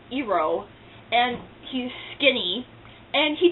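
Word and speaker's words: Iroh: gives it to him and i wrote is pronounced eero and he's skinny and he does not make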